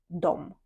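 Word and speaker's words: de: дом - це вони незважаючи на те що тут в нас дві букви але цей займенник він вимовляється як дом дом це вони і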